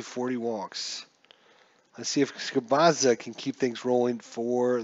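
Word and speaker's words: Gubicza: It's going to be Stoudemire versus Mark Gubazza. I learned how to say his name too. Mark Gubazza.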